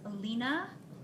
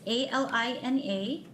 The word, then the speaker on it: Alina: Dr could you state your name and spell it for the record please sure my name is Alina oh I don't know if I should give